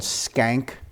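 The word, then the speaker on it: Schenck: um this is um the family was called skank um they spell it s-c-h-e-n-c-k um this photo is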